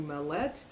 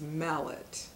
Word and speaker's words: Mallett: for mispronouncing your name I called you Mel let and it's Mallett yes yes all right